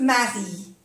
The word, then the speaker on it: Marie: Que Marie, aquí igual, Marie, no se pronuncia la E.